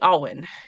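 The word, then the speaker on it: Awen: And the thing that I'm going to talk about is called the Owen. It's spelled a wen and it's an important um focal point for druids because it's it's kind of our energy.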